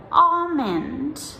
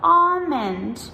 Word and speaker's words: almond: Then we also have some longer words, for example, almond or salmon. So almond, we spell A-L-M-O-N-D, and salmon, S-A-L-M-O-N. So if we have the longer word, then the silent L usually comes in the middle of the word.